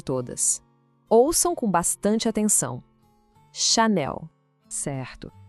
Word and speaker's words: Chanel: O segredo aqui tá todo na sílaba final, não é para falar Chanel, como se fosse em inglês, tá? O foco é total no Nel. O som do L é bem marcado e a força da palavra tá ali.